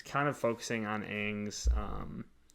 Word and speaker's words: Aang: So like each season, it's kind of focusing on Aang's, like him mastering the different elements. So, dude, it's Aang. That's the way it's supposed to be pronounced.